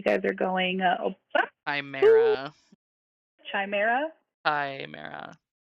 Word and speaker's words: Chimera: Chimera. Chimera? Even though it has an That's H the in there, the Chesmire. H is silent.